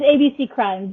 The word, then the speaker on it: ABCrimes: So AB Crime is your podcast. It's ABC Crimes. Yeah. It's spelled AB Crimes, but I pronounce it ABC Crimes.